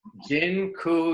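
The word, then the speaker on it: dziękuję: so much awesome and Jin Kuya by the way I just taught you all the Polish word for thank you it's gin cool yeah that I'm not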